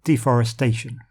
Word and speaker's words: deforestation: The pronunciation pattern of this word actually matches environmental with the stress on the penultimate syllable, deforestation. Although that's actually a general pronunciation rule for English, any word ending in ation has the stress on the A.